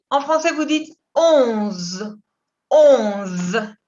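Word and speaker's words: onze: 11. Il se prononce hasta la Z. 11. La ON es on. On. Con una O muy cerrada y que viene acá de arriba, la nariz.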